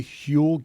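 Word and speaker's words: Huel: Fortunately, Hule gets it, too. It's spelled hue eel.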